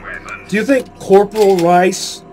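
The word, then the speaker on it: Reiss: The name is pronounced Rice, by the way, not Reese. The Crimson Lance got nothing on my weapons. Do you think Corporal Rice, not Corporal Reese, Corporal Rice, is the brother of Hank?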